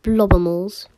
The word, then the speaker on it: Blobimals: It's pronounced blobimals. Sorry. Blobs and animals.